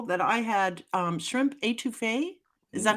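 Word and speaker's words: étouffée: first time people that I had um shrimp etouffee is that how you say it etouffee yep I had never had etouffee before I'm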